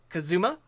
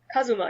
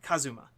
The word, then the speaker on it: Kazuma: Well, thank you very much, Kazuma. Kazuma. Am I mispronouncing the A part? No, you're mispronouncing the U.